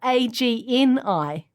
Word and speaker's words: Agni: Not only that, but Agni is spelled A-G-N-I.